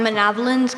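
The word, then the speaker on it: manavilins: Manavolins, are there any alternate pronunciations? I have just the one, manavolins.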